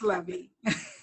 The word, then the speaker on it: Levy: Her name could be Levi or Levy. I should ask Dr. how are you pronouncing it? Because I know you'll know better than me. Okay, Dr. if you'll really release your mute and you may begin. Thank you, Dr. Beauchamp-Byrd. It's pronounced Levy.